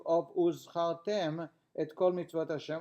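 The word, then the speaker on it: וּזְכַרְתֶּם: A hey being substituted for an ayin Similarly, one should take care regarding the pronunciation of the Zayin of Uzchartem et Kol Mitzvot Hashem, Uzchartem, and you should remember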